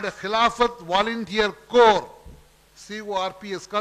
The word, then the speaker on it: Corps: My dear friends, students of Islamia College formed a separate organization called Khilafat Volunteer Corps, C-O-R-P-S, pronounced as Corps, Khilafat Volunteer Corps, to spread the cause, cause of Khilafat.